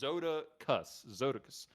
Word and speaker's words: Zodicus: Is this like cactus? Like Zotacus? Zodicus? You gotta spell that one out for me, boss. And he was like, it's Zodicus, or just Zoda, which is normally you'll